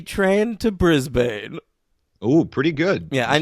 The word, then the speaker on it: Brisbane: The D train to Brisbane. Ooh, pretty good. Yeah, I know it's pronounced Brisbane though, so I was annoyed.